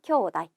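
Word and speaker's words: 兄弟: 쿄우 나이라고 해서 테이도 아니고 네도 아니고 나이라고 읽어줍니다. 형제는 쿄우다이 기억해 주세요.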